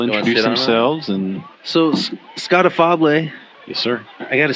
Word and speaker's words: Afable: slaughtered every which way, so it's Afable, affable with one F if you want to spell it.